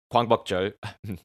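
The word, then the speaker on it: 광복절: Gwangbokjeol, my Korean pronunciation, Gwangbokjeol, literally the day the light returned, and is one of the public holidays in South Korea.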